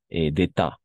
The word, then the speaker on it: état: D'état, si la T tampoco se pronuncia.